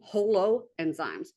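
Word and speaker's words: holoenzymes: enzymes we call them Holo enzymes I think that's nice even though whole is spelled with a W still sounds the same there you go that's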